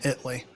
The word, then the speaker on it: Italy: You're going to spell the town Italy, but it's pronounced Italy because this is Texas.